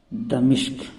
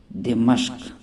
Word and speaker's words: دمشق: ہے بیت المقدس۔ دوستو، تیسرا لفظ جو غلط تلفظ کے ساتھ پڑھا جاتا ہے وہ شام کا دارالخلافہ دمشق۔ یہ غلط تلفظ ہے، جبکہ اس کا صحیح تلفظ ہے دمشق۔ علامہ تقی عثمانی دامت